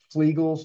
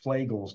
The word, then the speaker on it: Flegel: things like confluent reticulated ptosis uh acanthosis nigricans flegal disease and a lot of people mispronounce that as fagal disease and we actually I remember going to